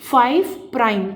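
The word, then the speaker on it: 5′: अब ये जो फाइव और थ्री डैश जो लगे हुए हैं इसको हम प्रोनाउंस कैसे करते हैं? इसको पढ़ते कैसे हैं? इसको कहते हैं 5 प्राइम एंड क्या कहते हैं? फाइव प्राइम पी आर आई एम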